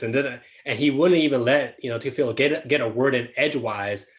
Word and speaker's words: Teofilo: Yeah, Teofilo.